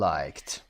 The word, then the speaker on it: liked: تلفظ هم دقت داشته باشید چون که داره اینجا میگیم liked، صدای ت میده.